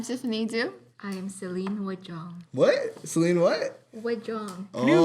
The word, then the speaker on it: Wajong: I am Celine Wajong. What? Celine? What? Wajong. Oh, you- I thought it is was. that how I you think you said pronounce it? mahjong, like the game.